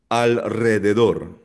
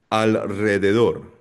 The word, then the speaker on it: alrededor: At ginagamit ginagamit rin itong strong or rolled R kapag ang R sinus ay ah pagkatapos ng letters L, N or S. For example, alrededor alrededor.